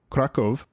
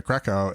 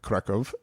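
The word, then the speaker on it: Kraków: I've never been to kraco and they were like that's not how you pronounce it and I was like oh apparently that's a German way to do it is that right catsper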